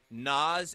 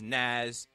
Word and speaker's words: Nas: like I remember she she mispronounced Nas as Naz and Kid Cudi as